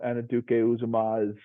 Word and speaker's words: Anudike-Uzomah: I think I I think Felix you know annaduke uzumas I mean Commodities homegrown nice work with the pronunciation Joe I got it right I was